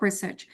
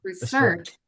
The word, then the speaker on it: research: When it comes to noun, the pronunciation is research.